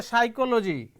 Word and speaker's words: psychology: this you can say psychology here p remains silent pneumonia here p remains